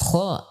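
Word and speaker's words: خ: Itulah hams, ya, yang mengikuti huruf kha pada saat diucapkan. Yang kedua, ditinjau dari tekanannya. Maka ditinjau dari tekanannya, huruf kha termasuk huruf yang ringan atau huruf rokhawah, sehingga ia mengalir pada suara, tidak bertumpu kepada makhrajnya.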